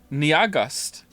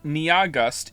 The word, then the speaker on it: Nyahgust: to spell it, NYAHGUST, has informed me that their name is only 2 syllables long. And I don't understand how that's possible. Nia is clearly 2 syllables on its own. And then after that, you have gust. Niagust. It's pronounced like August.